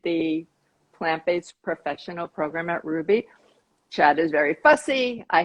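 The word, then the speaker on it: Rouxbe: desserts course for them and i i think ruby and that's spelled r-o-u-x-b-e if there's anyone who doesn't know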